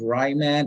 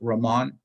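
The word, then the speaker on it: Riemann: ramon sums it's uh it's not pronounced ryman it's ramon i think that's a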